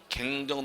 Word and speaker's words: 경정: 갱정 등기가 돼야 되죠. 그래서 1990년대까지는 책이 두 가지로 나옵니다. 경정, 갱정 두 개로 나오는 한글어법에서 통일시켜가지고 경정으로 통일시켜 경정이 된 것이고 원래 발음은 경정이 아니라 갱정이 정확한 말이에요.